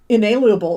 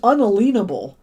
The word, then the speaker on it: unalienable: endowed them with certain it's not inalienable it's unalienable people mispronounce that all the time unalienable rights that means you can't take them away as explained in the declaration of independence it says unalienable not inalienable anyway indeed the very